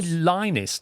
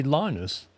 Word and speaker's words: Linus: You don't say Lionus, do you? You say Linus.